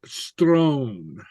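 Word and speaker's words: sròn: o so um and note that an Sr sounds like a St so it to be pronounced Strone St okay and more complications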